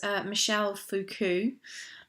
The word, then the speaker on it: Michel Foucault: Okay, guys, so this is chapter 6, Michel Foucault. Okay, that's how you pronounce his name.